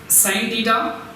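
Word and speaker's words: sine: अब यहाँ पर देखना है हमको, इसके पढ़ने का तरीका साइन है। देखिए साइन है, इसको क्या है, चंद तुलबा क्या है, सिन भी पढ़ते हैं। इसका जो तलफ़ुज़ है, इसका जो प्रोनाउंसिएशन है, ये प्रोनाउंसिएशन है साइन थीटा।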